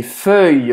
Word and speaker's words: feuille: Feuille, você vai, para falar isso, você vai fazer a boca do O e vai falar E.